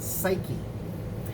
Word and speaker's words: psyche: you know puke but the p is silent it's where we get the word psyche and psyche for us